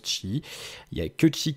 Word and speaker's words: Qi: c'est la norme çi donc c'est cuit mais ça se prononce chi il ya que tu